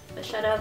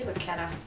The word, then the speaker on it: vachetta: Vachetta, vaquetta. How do you say it? I say vaquetta.